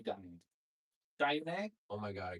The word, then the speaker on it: Dahyun: It's not Dahyun, it has to be Dahyun.